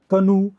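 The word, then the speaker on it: canoe: जो होता है, शू, सी ए एन ओ ई, खनू, खनू, डोंगी होती है, ऐसी नाव जो छोटी नाव होती है, इसमें कोई कवर नहीं होता, ओपन बोट होती है, यॉट, बॉट, कनू, डोंगी, छोटी सी नाव,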